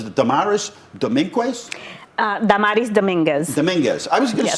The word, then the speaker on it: Dominguez: Dominguez.